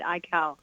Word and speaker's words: Aikau: Aikau. You pronounce all the letters, essentially.